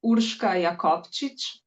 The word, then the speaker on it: Urška Jakobčič: Okay, first I'm going to pronounce my name because I know it's weird for most people. It's Urska Yakovich and I'm from Slovenia.